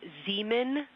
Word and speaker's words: Zeeman: We believe that that is Zeeman crater. Zeeman, okay. Can you say the first letter? I may be pronouncing that wrong.